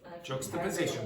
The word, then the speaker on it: juxtaposition: Juxta and then position. Juxtaposition.